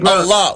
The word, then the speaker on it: Allah: Hebrew, alif, lam, ha, which is actually pronounced as Allah. The alif is A, the lam is L, and the H is ha, which is Allah.